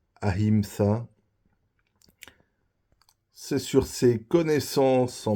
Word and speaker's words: Ahimsa: Il parle de Hagra au lieu de la ville d'Agra où il dit Haimsa au lieu de Ahimsa.